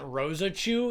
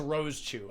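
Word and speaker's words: Rosechu: I always forget that her name isn't Rosa Chew, it's just Rose Chew. I always forget that. I always pronounce it Rosa Chew, but there's no I'm adding a vowel to it.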